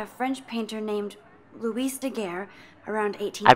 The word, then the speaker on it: Daguerre: process invented by a French painter named Louis Daguerre around 80 I pronounced that right somebody has been reading as